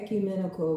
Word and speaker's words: ecumenical: how do you say this e menal acumenical acumenical eal ecumenical representing a number of different Christian churches okay